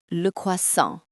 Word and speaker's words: croissant: It's not croissant, it's that second s is silent and it has a lovely nasal sound at the end.